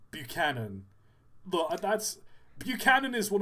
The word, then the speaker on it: Buchanan: Butchered in B- Buchanan. Buchanan.